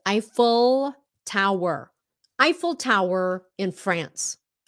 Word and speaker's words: Eiffel: Không phải là iPhone. I think that's the way Vietnamese normally say is iPhone because they see the L and they turn it into an N.